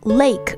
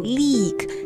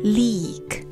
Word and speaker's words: leak: 但是大家要记住了Take leak 这个说法呀，男生用的多，不太淑女，就女孩子保持形象就还是不要说这个了。OK, 另外我们再讲一下 leak 这个单词的发音，大家注意，因为它中间是 L-E-A 嘛，所以有的时候啊，大家会读成 lake, 可是应该是读成 leak, 它发这个 E, 发长元音 E, leak, leak.